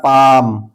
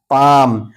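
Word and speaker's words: palm: इसी तरह पाम पाम एल के बाद एम आया तो ये एल साइलेंट है।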